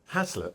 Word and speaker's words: haslet: How do you pronounce it? Haslet or Haslet? Haslet, I say.